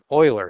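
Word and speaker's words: Euler: Oiler, that's how you say his name. I forgot for a second. Oiler is how you say his name.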